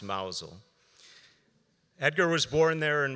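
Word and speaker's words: Mousehole: lived in llane cottage mous hole that was my address pronounced mousel Edgar was born there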